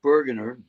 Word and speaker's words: Burgener: account what is your instagram account can you spell it out for me uh just bergener b-u-r-g-e-n-e-r bergener it fits it fits them